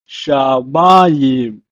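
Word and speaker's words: שָׁמַיִם: It's pronounced in Hebrew as shamayim, shamayim.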